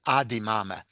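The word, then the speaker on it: אַז די מאַמע: how she pronounced it, she said adi mama. And this is quite common as a final z on as and is disappears in ordinary speech.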